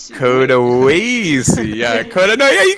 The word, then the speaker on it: Coda Wassie: We're arguing how to pronounce it. Actually, it's Coda Wassie. Coda Wassie.